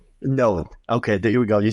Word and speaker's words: Noad: I don't know how you pronounce his last name actually. No. No. Node. Node.